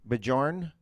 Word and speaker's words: Bjorn: Bajorn? No, I think it's Is the Bjorn. J but silent? I like to pronounce the J. I think it's more fun that way. Oh.